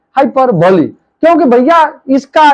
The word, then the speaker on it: hyperbole: है जिसका नाम है हाइपर बली इसको हाइपर बली पढ़ते हैं जरा इसको स्पेलिंग दे